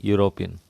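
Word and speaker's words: European: अब दोस्तों यूरोपियन बहुत बार आता है, हालांकि यूरोपियन की स्पेलिंग ई से स्टार्ट हो रही है, लेकिन हम साउंड पे जाएंगे, और जब साउंड पे जाएंगे तो यूरोपियन का जो साउंड आता है वो यू से आता है, य से आता है, एग्जैक्टली अम्ब्रेला की तरह।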